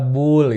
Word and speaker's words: boolean: adalah e tipe data bolean ya Nah tipe data bolean itu seperti biasa kita punya data bolean ya data Bull itu bacanya ya jadi jangan aneh-aneh nih nah data bolean itu